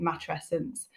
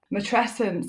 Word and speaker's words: matrescence: uh yes you have said it properly I pronounce it matrescence matrescence is a word that I am on this